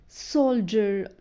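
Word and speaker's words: soldier: بنطقه بصوت الض عادي بس دي كلمه الاستثناء اللي بنطق فيها حرف الدي بصوت الج رغم ان بعدها اي سولجر سولجر جراويت جراويت التخرج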